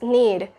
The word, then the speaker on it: knead: The K sound is silent, so it's need.